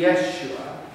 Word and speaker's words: Yeshua: and it is jesus now if you and i were to say this in hebrew we wouldn't say jesus we would say what sounds a little like a funny way to pronounce joshua because they are in fact one in the same name it would be yeshua which means deliberate a